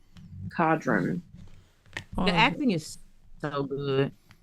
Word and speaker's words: Codron: Yeah, cod like the fish, Ron. Cadron.